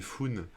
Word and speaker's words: Foone: Ne rigolez pas, son pseudo c'est Foon. Ça s'écrit Foone.